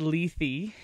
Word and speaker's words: Lethe: I've encountered that word in reading I've always pronounced it left and it wasn't until we decided to come